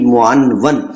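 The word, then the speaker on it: معنون: इसको मानून नहीं पढ़ना, बल्कि क्या पढ़ना है, प्रोनाउंसिएशन इसकी क्या होगी, मुआनवन।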